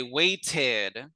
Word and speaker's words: waited: Generally, when the T comes between two vowels, we will pronounce it like duh. So wait, but in an English class, I will say waited, because this Waited.